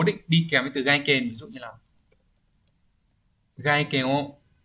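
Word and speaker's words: 外見: Câu cuối cùng, câu số 30, chữ Hán là chữ ngoại chữ kiến, từ này đọc là gaiken.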